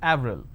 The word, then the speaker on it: Avril: pronounced differently for example the name April it's it's a month right in French it's pronounced at Avril the name Clemente is